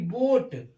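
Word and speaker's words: boat: ऐसे ही बी ओ ए टी बोट, क्या पढ़ते हैं? बोट। ए इसमें साइलेंट हो जाता है, उच्चारण ओ और ए का उच्चारण ओ हो जाता है।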